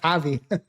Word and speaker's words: Javi: I call myself Javi.